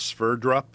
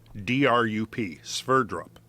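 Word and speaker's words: Sverdrup: been looking at this use a term called sphere drop which was originally uh contrived to um in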